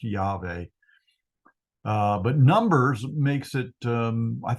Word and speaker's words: Yahweh: I think it is accurately pronounced Yahweh.